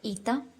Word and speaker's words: η: It's written with the letter eta and it's pronounced as e. E.